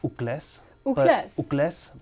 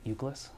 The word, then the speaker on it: Ucles: name well for the it's pronounced ugles but for the anglos we pronounce it euclas because because someone they can't pronounce the last name that uh that that way so i tried yeah yeah yeah definitely but for the but for the well for those who can't pronounce it i just say just think of the word useless it's eucles this is a helpful way